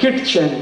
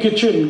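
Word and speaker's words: kitchen: उसको एक शब्द है किट चन के आई टी सी एच ए कहते नहीं नहीं किचन किचन किचन फिर के आई टी क्यों लिख रहे हो टी साइलेंट है क्यों लगाया हटा दो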